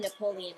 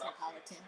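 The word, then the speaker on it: Neapolitan: I call it Napoleon ice cream. Me and my mom always call it Napoleon ice cream, but I know how it's pronounced Napolitan.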